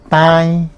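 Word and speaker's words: tãi: Diente, diente, yo digo tai, tai. La A es nasal, ¿sí? Tai, lleva la virgulilla.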